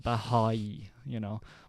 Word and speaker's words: Baháʼí: Bahá'í, But I just say Baha'i.